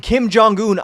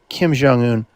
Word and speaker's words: Kim Jong-un: Kim Jong-un, I want my people to treat me like they treat Kim Jong-un in North Korea. That's what he says. Kim Jong Un. Oh, you're not saying it right.